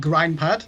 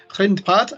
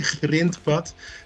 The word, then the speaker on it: Grindpad: It's Grindpad and it translates as gravel path. That's correct, isn't it? Yeah, hi Kirk, nice to be here. Yeah, that's correct. It's the impossible Dutch G, Grindpad, like my name